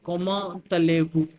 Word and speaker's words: Comment allez-vous: I hope now you are clear why I pronounce T and A together. Why I pronounce it like comment allez-vous and not as comment allez-vous.